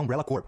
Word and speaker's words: Umbrella Corps: Só reforçando, caso você não saiba, a pronúncia do nome desse jogo é Umbrella Corp. O jeito que todo mundo fala no Brasil que é Umbrella Corps, literalmente tá falando Umbrella Cadáver.